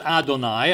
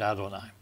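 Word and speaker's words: אדני: right ado and i i think your best pronunciation for the d is is to take a th sound and make it sound like a d like it's not t h but d h all right in case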